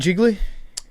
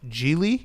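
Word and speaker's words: Gigli: Have you seen Jiggly? I It's think wonderful. It's pronounced Geely.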